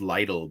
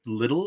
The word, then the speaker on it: Lidl: I know I always I always thought it was pronounced Lidle but little okay that that works